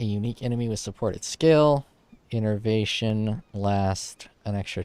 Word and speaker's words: innervation: Innervation. Innervation. Exactly how it's spelled and pronounced.